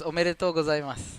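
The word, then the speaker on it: おめでとうございます: Okay, it's omedetou gozaimasu.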